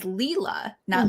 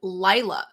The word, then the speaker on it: Lila: out of 40 that the way to pronounce her name is leela yes i saw that the narrator says lila the whole book that's